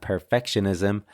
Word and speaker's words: perfectionism: One, ironically, was with the word perfectionist and perfectionism. Okay, so the stress here should be on the second syllable, perfectionist.